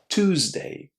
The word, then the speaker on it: Tuesday: try to remember that Tuesday, the second day of the week, is pronounced in a similar way to number two in the first syllable. Two. Two. In fact, American speakers pronounce the word Tuesday as Tuesday. Tuesday. So, in fact, they're saying two, like the number two.